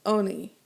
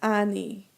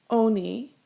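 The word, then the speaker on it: עֳנִי: hat of kamats and it's pronounced oni not ani oni uh the oppression of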